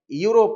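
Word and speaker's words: Europe: யூரோப் countries யூரோப் countries EU ஆர் ஓ நாங்கள் யூரோப் என்று சொல்றோம் இல்லையா யூரோப் கண்ட்ரிஸ் என்றுதான் நாங்கள் உச்சரிக்க வேண்டும் இதே போல போன்று சவுத்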